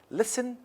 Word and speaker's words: listen: so it is different listen listen is not pronounced and western it is pronounced so it is different i'll and christmas so